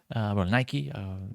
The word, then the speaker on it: Nike: Nike, that's how you pronounce it.